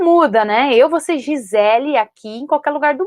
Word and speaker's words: Gisele: Eu falo teacher Giselle para brincar com os meus alunos, para eles entenderem que tem uma outra pronúncia, mas eu, quando chego no aeroporto para falar, falo meu nome Gisele. Se ele fala Giselle, eu não importo. Mas eu me apresento como Gisele.